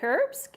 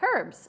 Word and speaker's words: herbs: phonics I teach sounds she used the H sound the with words that we sometimes keep it's silent so I know with herbs that something in America we keep silent but I believe in Britain you say herbs um and you know